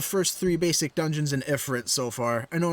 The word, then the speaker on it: Ifrit: only done the first three basic dungeons in ifrit so far i know it's pronounced e free but i've been pronouncing it effort since i was like four so that's how